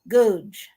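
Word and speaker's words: Goudge: Did I Googe. pronounce her? What is it? It's Googe. Googe. Gooch. Googe.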